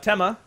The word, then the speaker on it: Tema: prefer it said? It's Tema. I know it's Tema. Here we go. It's good. Tema? You Okay. say it right. I say it Tema. right. Tema? But I don't mind if Jab said it. I say Tima because I'm Australian, and it sounds Yeah.